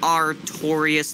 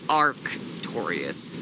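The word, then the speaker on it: Artorias: was a lot ofun it's pronounced art torious not AR torious it's artor I said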